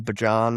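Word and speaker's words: Bijan: Bjan or Bjan, that's constantly debated how he's pronounced, but we're going to roll with Bjan.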